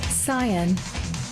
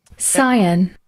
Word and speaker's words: Scion: I thought, Is maybe cyan like the color? cyan is a noun. It's spelled S-C-I-O-N, and it is not the color.